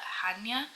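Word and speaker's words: Chania: on an island called well it's spelled like CH but I think you actually call it Hana um and yeah it's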